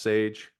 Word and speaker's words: $EJ: Once again, Sage spelled $EJ, pronounced Sage.